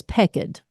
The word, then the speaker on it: peaked: folder on my desktop, it was Peaked, Pekid. Now, I think the proper pronunciation is Pecked. I believe it's an English term, but basically it means sickly. And I do mention that